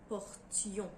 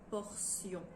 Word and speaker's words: portions: première personne du pluriel à l'imparfait c'est nous portions nous gardons la prononciation du thé comme pour le verbe portée alors que le nom t é o n s est souvent prononcée sion une portion des portions donc c'est un petit peu plus facile quand